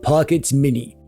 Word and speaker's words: Pocket S Mini: This is the Inal Pockets Mini. It's pronounced Pocket S Mini.